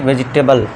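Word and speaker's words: vegetable: लेकिन इसका correct pronunciation दोस्तों क्या है देख लीजिए वेजिटेबल वेजिटेबल ठीक है दोस्तों तो इ यहां पे साइलेंट है इस तरह एग्जांपल भी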